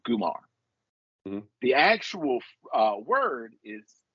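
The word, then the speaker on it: comare: r e but pronounced gumar so it throws me on it's it's starts with the c but it's pronounced gumar with a hard G yes that's dope I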